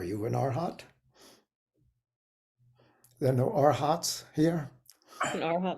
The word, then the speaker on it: arhat: all aspire to be arhats um or if you like to pronounce it in poly arahant I kind of like arhat myself um next is a